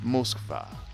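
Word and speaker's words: Москва: For those of you who have never been to Moscow, Moscow, as some will pronounce it, Moskva.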